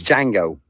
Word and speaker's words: Django: And it's jango. The d is silent.